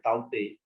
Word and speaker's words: Tauktae: gecko blizzard right so cyclone pronounced as taute is classified as a